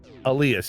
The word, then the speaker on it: Alias: Yeah, Elias, yes, but it's spelled Alias, but pronounced Elias, but yes.